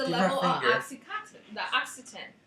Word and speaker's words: oxytocin: oxytocin. The oxytocin. How do you pronounce this? I don't know. Oxycontin? Oxycontin is a drug.